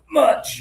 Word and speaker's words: much: A lot of people mispronounce this and accidentally say this. Okay, I have so much money. I have so much free time. So much free time? So much free time, right? So this is that pressure in the stomach sound. Edir, good job.